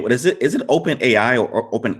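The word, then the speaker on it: OpenAI: Is it Open AI or Open? How do I pronounce AI. it? It's just Open AI. Okay. Yeah, like a compound, like Open AI, like 2 words.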